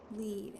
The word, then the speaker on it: lead: something I wondered if he met lead as in the word that rhymes with read or the metal kind of lead as in the word that rhymes with red John Gray's just as